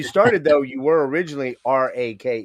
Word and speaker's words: Rwake: me out here guys it's rake not where right I mean you we leave that up to uh anybody can pronounce it how they want we usually just refer to it as wake um without an R yeah but uh we